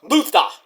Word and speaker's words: Lutha: Lutha, pronounced Luther. Luther! Like Gunther, you know?